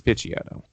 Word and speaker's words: Picciotto: Is it Picciotto? It's Picciotto. Yeah. Okay. I've always said it that way, but I was like, is that right?